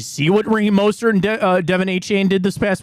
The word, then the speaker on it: Devon: Devon is it not it's not Devin it's Devon a chain I'm gonna go find